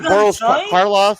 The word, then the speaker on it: Karloff: Is that the Boris Karloff?